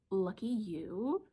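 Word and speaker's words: Lucky Ewe: It's called Lucky You, spelled like a sheep U, E-W-E.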